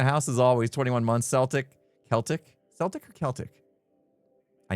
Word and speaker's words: Celtic: Hard C. K. Celtic. Celtic.